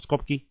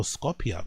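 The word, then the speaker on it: Skopje: Outrage after the fire prompted protest in Macedonia capital or Scopchki or Scopki, however you pronounce it.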